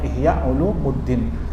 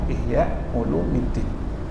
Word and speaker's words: Ihya Ulumiddin: Ihya alulumiddin ya Masyaallah banyak orang nyebutnya Ihya Ulumuddin Padahal kalau secara ilmu nahu harusnya bacanya Ihya ulumiddin ya J kitab ini